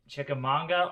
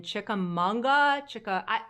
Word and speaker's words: Chickamauga: who live down in Chickamauga my my brain and my mouth want to add an N I know there's no